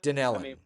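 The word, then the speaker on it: Dunedin: Is it Dunelan, Florida? Danella. Danella. May pronounced that wrong.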